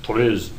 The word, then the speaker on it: TRIZ: There's something called TRIZ, a Russian inventive system, or it's actually pronounced TRIZ, and it's this Russian acronym.